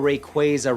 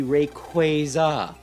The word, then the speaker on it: Rayquaza: People who call Rayquaza Rayquaza bug the out of me because it's very clearly, you know, Quaazar. Its name is taken from the word Quaazar. So, it should be Rayquaza.